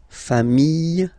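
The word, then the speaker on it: familles: the plural form okay remember singular form sh same pronunciation but you put this s okay final s not pronounced fam singular form fam plural form same pronunciation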